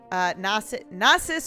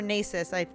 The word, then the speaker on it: Nasus: like uh susan aka nasus or nieces depending on how you pronounce him now his keywords